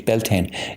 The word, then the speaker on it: Beltane: was the name where Beltane as it's pronounced in the United States Beltane it's Irish name is